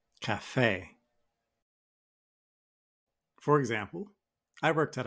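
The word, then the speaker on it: café: a as in Cafe notice where I put the stress in the word I put it at the End Cafe Cafe for example I worked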